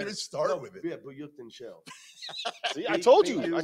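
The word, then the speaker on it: Buyukcencel: Yeah, Buyukten Shell. See, I told you. I told you that's how you pronounce it.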